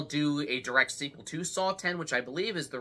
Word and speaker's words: Saw X: he deliver saw 11 well the jurries finally decided it was called saw 10 and not saw X based on this unless